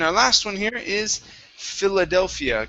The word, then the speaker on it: Philadelphia: last one here is philadelphia give me a short eye at the beginning instead of fila fila it's filler philadelphia great great nice job thank